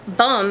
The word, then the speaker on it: Bum: name huh and Columbia the word bum is pronounced like boom oh who knew referring